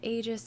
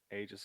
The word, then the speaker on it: Aegis: The Aegis of Vigilance. Aegis of Vigilance. Got it. I believe that's how you pronounce that, right?